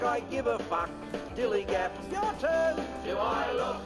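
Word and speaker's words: DILLIGAF: That's spelled D-I-L-L-I-G-A-F, dillygaff.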